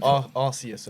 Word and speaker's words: Arceus: you also said Arceus earlier, which really annoyed me. What is it? Say what? Arceus. It's not Arceus. It's What is Arceus. It's not Arceus. The Pokemon It's Arceus. Arceus.